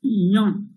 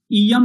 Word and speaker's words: इयं: तो हमें अनुस्वार को यहाँ म पूरा ना पढ़ करके अनुस्वार का उच्चारण करना इयंग, इयंग, इयंग। प्राकृत में होगा इयंग, इयम नहीं बल्कि इयंग। अनुस्वार को यंग ऐसा उच्चारण करेंगे, इयंग।